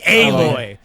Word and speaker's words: Aloy: I want to pronounce it Alloy, but everybody's like Aloy. Like the game says Aloy.